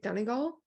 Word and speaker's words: Donegal: Donegal, I think is how you say it, which is Sounds like a real place.